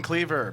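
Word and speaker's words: Kliewer: my name is Ben Cleaver but it's spelled weird at b n k l i e w e r it's not viir it's German very German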